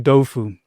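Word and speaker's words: 豆腐: So for example, Taoism, sometimes spelt Taoism, well, that's the dominant spelling, actually is pronounced in Chinese Dao Jia, Dao with a D. Tofu, it's actually Doufu in Chinese.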